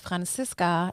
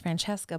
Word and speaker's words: Francisca: a Z in it so it's pronounced Francisca instead of Francesca but in English is pronounced Francesca but it's spelled Francisca okay so that's why